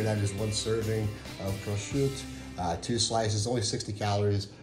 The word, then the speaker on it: prosciutto: good for you, is prosciutto. And my Italian friends, I'm not Italian, but my Italian friends have told me this is prosciutto. It's not pronounced prosciutto.